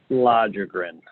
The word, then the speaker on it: Lagergren: And it's pronounced Lagergren.